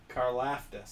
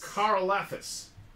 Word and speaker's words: Karlaftis: I keep saying that last name wrong. Hey. Karlaftis. Karlaftis.